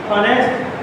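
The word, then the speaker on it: honest: एन A silent है ऑनेस्ट मैन इसमें एक साइलेंट हैस्ट क्या बोलते हैं ऑनेस्ट करेंगे इसमें साउंड वोवेल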